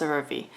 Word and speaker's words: CeraVe: I think it's pronounced CeraVe.